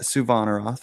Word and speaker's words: Suvanarath: We would like to discuss your most recent series covering the story of Lindsay Suvanarath. I think I pronounced that correctly, didn't I? Yeah, you got Suvanarath, but yeah.